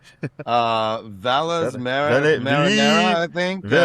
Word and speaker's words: Valles Marineris: Uh how do you how do you pronounce the name of this episode, Mike? Uh Valles Marineris, I think. Valles Marineris, that's exactly what it is, 100%.